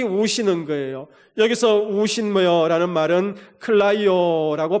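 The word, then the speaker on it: κλαίω: 여기서 우신여라는 말은 클라이오라고 발음하는데 여러분 그 주님의 울음은 내 심령 속에 누르면서 흐느끼며 우는 울음이 아니라 내 가슴에 있는 그 울분 그것을 다 드러내면서 통곡하는 울음이었습니다.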